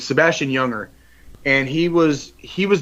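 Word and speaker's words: Junger: book is is Sebastian it's pronounced younger but it's it's spelled with a J so it's j n g r but it's Sebastian younger and he was he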